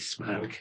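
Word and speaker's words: Smaug: The song is Icy Fire by Ed Sheeran featured in The Hobbit Desolation of Smal. Never really know how to pronounce Smal. I'd go with smoke. Yeah, that's right.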